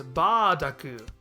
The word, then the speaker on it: Bardock: And like we just saw with Retasu being substituted for lettuce, we see bur being approximated with ba.